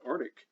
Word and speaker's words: arctic: same things happens with arctic lots of people say arctic today and and it only came to be spelled arctic in the 1700s again as as people